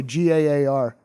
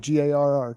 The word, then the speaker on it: Gaar: I'll say GAAR, like GARR. Got it. Yeah. No, motherfucker. Well, not a lot of people have a double A. Yeah, That's pretty rare. yeah. It's You like gotta a start Dutch pronouncing it. something. It's like I don't you know, and Aardvarks and Yeah, And that's about it. Batteries. You just gotta start saying Gaar.